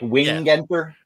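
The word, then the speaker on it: Wingenter: It is wing though, right? It's like wing enter.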